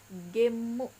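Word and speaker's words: ゲーム: Nah, game ini jika dijepangkan atau dimasukkan ke dalam pelafalan Jepang, dia akan menjadi gemu seperti itu.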